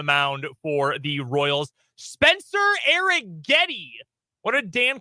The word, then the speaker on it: Spencer Arrighetti: Arrighetti was going to start like after the game last night.